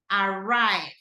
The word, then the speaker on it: arrive: so the the stress goes into the second syllable let's see this one that it's also with a arrive arrive second first or second Sy second second as